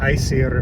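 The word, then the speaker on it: Æsir: The easiest one to demonstrate there is Asir, because or Asir in modern Icelandic pronunciation, but no Viking said it that way.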